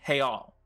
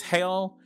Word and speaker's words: real: saying that he says brazilians left their r in europe and replaced it with an h so again the singular is hale and the plural is